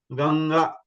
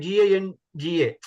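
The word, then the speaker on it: गङ्गा: Then you have to pronounce from your the base, that is Kantya, and then the sound should come from the nose also.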